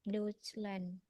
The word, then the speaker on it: Deutschland: Tadi kan TSCH bacanya kayak C ya.